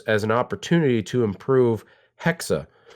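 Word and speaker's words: Hexe: an opportunity to improve Hexa, which I learned is actually how it's pronounced happening on this because it's a German Salem witch trial thing going on.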